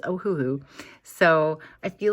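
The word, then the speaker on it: Ohuhu: kind of funny and I didn't think I was saying it correctly but I talked to my patreons and we're all in the same consensus that it is ohohoo so I feel like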